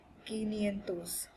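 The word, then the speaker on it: quinientos: or five times hundred but this is a rule breaker so it won't be cinco cientos it is so yes a little bit difficult to pronounce but you'll be just fine with guinean toes 500 that's a rule breaker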